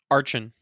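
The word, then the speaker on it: Archen: got my very first Arkin. Is that how you say his name? Little bird dinosaur? Archon.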